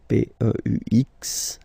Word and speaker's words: peux: Okay, P-E-U-X. Okay, don't pronounce the final X.